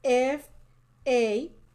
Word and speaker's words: family: And family is one of those situations where the I is silent. It sounds family. Family. Family. It doesn't say family, which is what it would be if the I weren't silent.